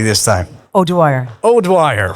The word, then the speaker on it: O'Dwyer: Association and uh very warm welcome to Brea odow did I did I pronounce it correctly this time owire OWI right all right lovely to have you